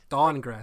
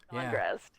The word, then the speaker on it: Dahngrest: Dahngrest. That's literally it. Dahngrest. Yeah. Dahngrest. Yeah, It's spelled stupid because it's from a Japanese RPG.